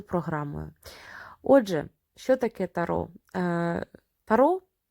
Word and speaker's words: tarot: як от тріонфі або тарок наприклад в Італія ця колода називалась старочіння А во Франція отримала вже назву Таро як бачимо Останнє не читається Точніше як чуємо і